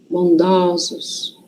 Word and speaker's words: bondosos: Quando é singular, tem som fechado, né? O. E quando vai para o plural, muda a pronúncia. Vira ó. Então, ansioso, singular. Ansiosos, plural. Bondoso, bondosos.